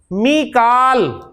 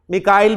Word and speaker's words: मीकाल: मीकाल, कुरान ने मीकाल का है, मिकाइल भी प्रोनाउंसिएशन है इसकी, तो मीकालू, मीकाला, मीकाला।